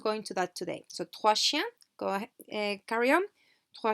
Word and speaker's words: trois chiens: Trois chiens, trois chiens. And the S is not pronounced in either word.